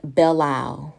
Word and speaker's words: Belle Isle: entering what is called bellow we call it bellow you might pronounce it differently but that's how we call it we call it bailout